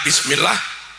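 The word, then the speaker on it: بسم الله: Ba kasrah bi tambah sinin mati bis. Harusnya imam baca bismillah.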